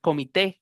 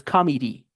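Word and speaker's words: committee: Y escucha gente diciéndole, eh, comité, comité, comité, como en español. Y esta palabra no es comité, es comedy con i al final.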